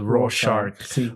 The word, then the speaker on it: Rorschach: Rorschach. É o Rocha. Quantos X aqui isto tem? O Alan Moore inclui lá uma pista para a pronúncia, que é a piada Raw Shark, mas que em brasileiro não dá.